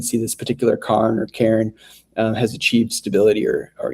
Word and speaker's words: cairn: And uh here we've got uh a cairn. Not like the Karen that threatens to call the manager, but a rock cairn or carn, I think sometimes they're pronounced.